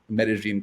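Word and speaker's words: Medellín: that you used to be, but you're in Medellin, Colombia, which I pronounced correctly.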